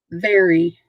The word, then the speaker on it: vary: Last word, vary. Not very like a lot, very like variety. Vary, V-A-R-Y. Vary, 2 syllables, and it means to change something often.